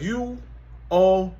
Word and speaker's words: Uomo: It's spelled U-O-M-O.